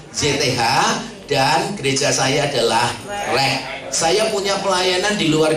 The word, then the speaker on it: REC: biasa disingkat RE REC tapi bacanya bukan keinggris-ingrisan. Biasanya kan kalau reform Exodus Community kan kelihatannya kayak Inggris gitu kan ya. Bacanya aja Reform Exist Community gitu. Tapi saya bacanya bukan REC tapi RE gitu aja.